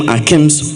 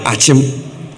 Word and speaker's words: Akyem: Why do we call them Akims when they are Akyem? Why still spell it Kibi when it is Kyebi?